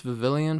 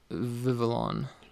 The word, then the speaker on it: Vivillon: So I mispronounced Vivillon last time. I always think it's Vivillon for some reason. That just sounds like a better name to me, I guess. But it's Vivillon.